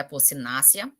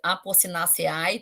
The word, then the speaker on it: Apocynaceae: Rauwolfia serpentina, que pertence à família Apocynaceae. Não se pronuncia Apocynaceae, tá? É Apocynaceae. Esse último ezinho aqui é mudo, certo?